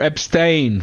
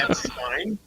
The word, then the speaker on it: Epstein: I heard it pronounced Epstein files. Albanian narco-terrorists help traffic over 1 million children. If we go by non-Goyim terms, it should be Epstein, because that's Yiddish, So yeah.